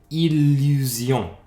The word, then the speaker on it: illusion: l l français au début d'un mot comme illusion où illégal ou illimité donc encore cette fois-ci en prononce elle parce que ça commence un mot